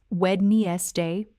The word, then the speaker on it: Wednesday: But in natural English speech, Wednesday is only said with 2 syllables. Wednesday. Or more naturally, just Wednesday. The D after D is almost completely silent, and the middle section gets squished together.